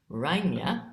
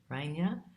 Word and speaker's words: Reiner: I'm here with, and she pronounces her last name Reiner. I think I got that right, Reiner.